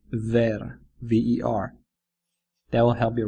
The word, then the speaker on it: ver: Bear sounds a little bit like ver, V-E-R.